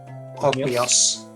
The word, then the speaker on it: Ogmios: Yeah, he's Ogmios, who wrestled with by Talwith Ogmios, who wrestled with it and tore off its head.